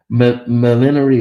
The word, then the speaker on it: millinery: Millinery is pronounced millinary. Millinary. Okay, okay. Millinary. Or sometimes millinery.